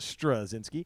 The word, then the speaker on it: Straczynski: by j michael strzinski pronounced pronounced strazinsky the family history he